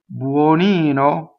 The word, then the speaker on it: buonino: Now, when you say buono, the stress is on the O, and that O is open. But when you say buonino, it is an unstressed O, so it is closed.